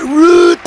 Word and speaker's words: Rutten: and pace down but root and yes that's exactly how they pronounce my name very strange re you see